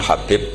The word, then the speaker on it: Habib: yang nulis Abi Abdurrahman Habib asulami itu di harokatnya kitab itu ada yang nulis khubb tapi yang benar Oh gigih yang benar itu bacanya habib habib itu asulami itu ikut